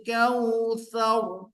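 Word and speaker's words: الكوثر: Inna a'tainakal kautsar. Tsar tebal.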